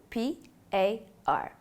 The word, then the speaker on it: PAR: refer to by the acronym p a r pronounced par this will include the